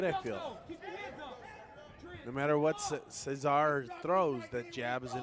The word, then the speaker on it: Cesar: They tell us it is pronounced Cesar, but I won't hold it against the crowd.